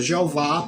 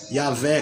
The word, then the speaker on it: Jeová: Em outras Bíblias já estão substituindo a palavra Jeová por Senhor, Senhor maiúsculo. Por quê? Porque você, em vez de pronunciar Yahvé como uns pronunciam, ou Javé como outros pronunciam, se pronuncia Jeová.